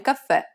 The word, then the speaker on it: caffè: Did you stress the final syllable? Remember that the accent marker indicates that the syllable needs to be stressed. And since it's a downward stroke, it'll be more of an open E sound, like the E in red.